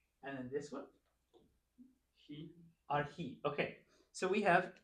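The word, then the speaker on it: ἀρχή: How would you pronounce that syllable? R. And then this one? He. Arhi.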